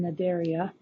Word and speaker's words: Cnidaria: phylum Cnidaria and so the C is silent their phylum Cnidaria and this this is